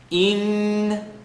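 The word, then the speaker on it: إِنَّ: Inna, E with the line on the bottom. So alif, line on the bottom. Hamza, line on the bottom. Inna, let the sound vibrate in the nasal cavity.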